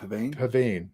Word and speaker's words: pavane: love this copy of Pavane. Yeah. Pavan, I think it's actually the pronunciation because it's a dance and and a medieval dance.